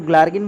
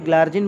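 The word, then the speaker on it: glargine: तो देखिए इसका अलग अलग प्रोनाउंसिएशन है, सब लोग अपने अपने हिसाब से इसको पढ़ते हैं, चाहे आप इसको ग्लार्गिन बोल दीजिए, ग्लार्जिन बोल दीजिए, हम तो जीलार्जिन बोल देते हैं, मतलब कुल मिलाकर के याद होना चाहिए।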